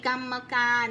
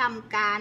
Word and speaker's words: กรรมการ: การ อนุมัติ ไม่ ใช่ กรรมการ ไม่ อ่าน ว่า กรรม การ นะ ลูก หั่น ว่า กรรมการ ถ้า คุณ แม่ ปิด